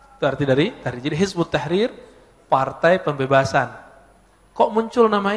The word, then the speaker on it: Hizbut Tahrir: ya dalam bahasa Arab Kalau ditulis versi transpirasinya Hizib at-tahrir Ya tapi kalau dibaca Hizbut Tahrir cara bacanya begitu nulisnya kalau di tesis